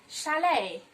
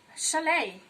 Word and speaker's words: chalet: Now, people pronounce this word as chalet. No, that is not correct. You say chalet because letter CH gives the sound sh and letter T is silenced in the word.